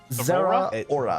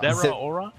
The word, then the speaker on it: Zeraora: You did how many syllables does Zeraora have? Zeraora. Zeraora. Like Rita Aura.